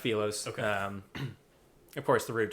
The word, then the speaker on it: Philos: In my in my intro, I think I said the Philos is it Felos? Yeah. So, it's pronounced Felos.